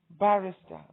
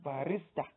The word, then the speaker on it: barrister: Bachelor, barrister, not barista.